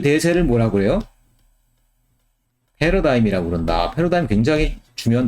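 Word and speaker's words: paradigm: 그 대세를 뭐라고 해요 패러다임 이라고 그런다 흘러간 굉장히 주면 됩니다 이게 다 지금은 과학 뿐 아니라 뭐 인문 사업의 어디 아다 쓰이는 단어가 됐어요 일지는 묵음 입니다 끊이질 않아요 패러다임 페루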